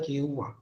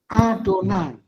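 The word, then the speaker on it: יהוה: Kalau ketemu yud he waf he harus dibaca apa? Adonai.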